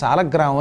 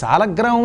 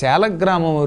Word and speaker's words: సాలగ్రామం: ఈ సాలగ్రామం అని పలకాలి, కానీ సాలిగ్రామం అని పలకూడదు, అది బండభూతు, దానివల్ల ఏమీ ఉపయోగం లేదు. కాబట్టి సాలగ్రామము లేక శాలగ్రామము రెండూ కూడా సందేహం లేకుండా మంచి ఉచ్చారణలే, సాధు శబ్దములే, అపసాధు శబ్దములు కాదు, అసాధు శబ్దములు కావు. కాబట్టి శాల సాల కూడా అనొచ్చు.